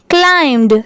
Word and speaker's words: climbed: ही, H-E, ही, climbed, C-L-I-M-B-E-D, climbed, C-L-I-M इतना हो गया climb, और